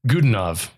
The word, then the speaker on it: Godunov: Yeah, the actor, how do you pronounce his name? Godunov.